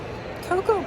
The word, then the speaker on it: cocoa: in cut or cowardly cocoa pronunciation just like in coconut because the a is silent in English cocoa versus cacao what